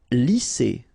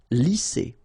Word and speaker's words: lisser: Lisser. Same thing here. Double S, S. Lisser.